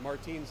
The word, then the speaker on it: Martins: it like that I I think Martins as in like Martin's leases he's a World's Strongest